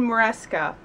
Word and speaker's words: Maresca: Marshall Ryan Maresca. I think that's how you said how to pronounce your name.